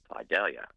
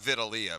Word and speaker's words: Vidalia: its large sweet onion Vidalia Vidalia and you pronounced that correctly too my friend thank you movies movies he was gonna say Vitalia but I stopped is there